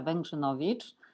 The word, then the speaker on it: Wegrzynowicz: yourself please hello everyone my name is vengenovic it's very difficult to pronounce i guess i've been doing professional software